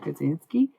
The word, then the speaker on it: Kaczynski: But if you look up Ted Kaczynski, You'll find his name pretty quickly.